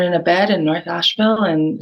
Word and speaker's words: Asheville: It's Asheville.